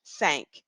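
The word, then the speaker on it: cinq: English that would be I sank and that's how we say it in French sank so again that Q at the end of the word is making a k sound now the number six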